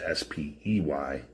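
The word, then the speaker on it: spey: Spay is spy apparently.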